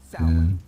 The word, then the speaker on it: Samhain: No, because the fundamentalist strikes back and says, but have you ever heard of Sam Hain?